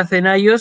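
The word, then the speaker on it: Ἀθηναῖος: Fíjense que el circunflejo está escrito sobre la iota, pero uno no dice Athenaios, dice Athenaios. Esta palabra Athenaios significa ateniense, es el gentilicio.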